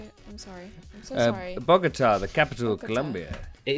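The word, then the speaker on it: Bogotá: But I was wondering about like Bogota. Yeah, that's not bad. Bogota. Is that how you say it? I'm so sorry. Bogota, the capital of Colombia.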